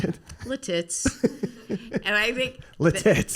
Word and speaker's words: Lititz: a big soundstage in this town in Pennsylvania, Lititz.